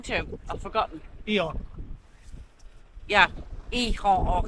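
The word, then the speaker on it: Gijón: Yeah, Ehon or Hehon. It's pronounced like a right funny. It reminds me of a donkey, like Hehon, Hehon.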